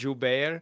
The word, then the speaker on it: Gilbert: I didn't know it was pronounced Gilbert, so to me it was always Rob. What did I think it was? I thought it was like Robb Gilbear or something like that.